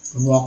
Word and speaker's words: walk: बहुत सारे मिल जाएंगे, जैसे कि CALM काम होता है ना, काम, या WALK वॉक होता है। इसमें जो L साइलेंट है, यहाँ L साइलेंट है, यहाँ G साइलेंट है।